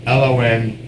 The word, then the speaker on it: Long Island: say it like this: LON-GISLAND.